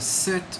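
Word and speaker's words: cet: singular saw or set the set with c-e-t is used if the noun begins with a vowel or a vowel sound that is a silent h otherwise if the noun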